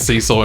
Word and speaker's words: Cecil: partying all the time the name cecil is pronounced like cecil brown's and rhymes with vessel oh so cecil not like oops beanie and cecil and rhyming with diesel cecil hell yeah the